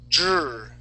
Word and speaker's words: dripping: getting closer okay so we're gonna say Dre dripping dripping okay getting getting closer here so uh what you want to do right now your tongue is hitting the top of your mouth you're saying dripping okay you want to force your tongue down okay and curve it okay that's how you're going to pronounce the r sound okay that's how